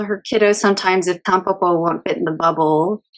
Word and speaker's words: Tampopo: So, it's Tampopo. Okay. Maybe, yeah. You can just say like Tampopo, I think, in English pronunciation.